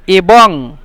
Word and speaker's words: এবং: لكن مش تتكلم إبن دي آخر نون يعني زي غنة غنة يعني إبن زي الإخفاء أنا مش هقدر أقول لك يعني كيف دي أنت تنطق لكن زي بعض يعني هنا برضو كتبته EBONG إبن نحن ننطق هكذا مثل بالضبط إبن إبن هكذا يعني نحاول